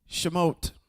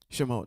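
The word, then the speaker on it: שמות: In Hebrew, it's Shimote. That's where we are right now. Shimote. And that's how you spell it.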